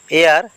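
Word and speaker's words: heir: ডি হইছে silent বর্ণ এয়ার এয়ার মানে উত্তরাধিক ইয়াতে এইচ হইছে সাইলেন্ট বর্ণ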